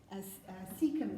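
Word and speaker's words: caecum: Cecum, it's spelled like, you don't need to remember this kind of thing.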